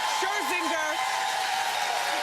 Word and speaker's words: Scherzinger: Scherzinger.